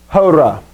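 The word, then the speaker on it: ὥρᾳ: Hora. Hora. Now notice here you have this little, it's an iota subscript is what it's called. Iota written underneath. It doesn't change the pronunciation though.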